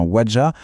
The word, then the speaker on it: Ouadja: Et là, attention, quand on parle du docteur Ouadja, prononcez bien Ouadja, on ne parle pas d'un simple théoricien.